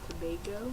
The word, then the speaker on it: Tobago: experience the culture and cool okay wait it's pronounced Tobago today oh yeah okay it's technically there's two